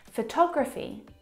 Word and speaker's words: photography: Now, if you look at the second example, photography, you can hear the pronunciation is different. And that's because the second syllable is the stressed syllable in this word photography.